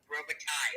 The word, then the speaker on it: Robitaille: I just wanted to tell you that you do say my name right when you say it for the tarot cards. It's Robitaille. Yay!